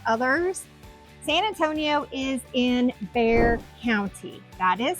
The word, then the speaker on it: Bexar: here so it's called Bear County the x is silent somebody decided to put an X in front of a bear and it became Bear